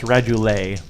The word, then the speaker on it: radula: believe are called, and can you help me pronounce this, rules lawyer? The things on the outside, radula?